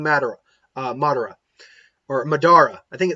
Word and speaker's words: Madara: it okay it's either it's not Medora okay I say it Madera but I know it's not it's Madara Madara it's not quite